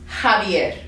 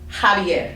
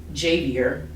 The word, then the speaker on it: Javier: letter name and khutba actually makes an h sound so that's why we say when we see this word we say jalapeno okay or we see this person's name and it's javier javier not you know jbr which is my cousin's